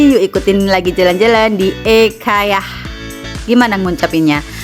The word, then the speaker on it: IKEA: Yuk, ikutin lagi jalan-jalan di Ekayah. Gimana ngucapinnya? Kalau IKEA tuh orang Indonesia banget ya. Ternyata pengucapan Swedia itu kalau enggak salah ekeah seperti itu.